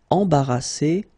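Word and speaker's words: embarrassée: Embarrassé, embarrassé. Same thing here, final E, you don't pronounce it.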